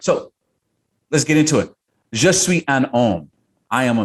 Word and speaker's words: je suis: so just sweet is how you say i am in french just sweet you